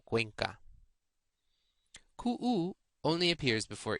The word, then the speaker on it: Cuenca: You may have noticed that CU before any vowel is pronounced qua, as in Ecuador or Cuenca.